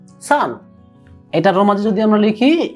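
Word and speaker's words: さん: খেয়াল রাখবেন, সান, সা এন, সান। ইচি নি সান।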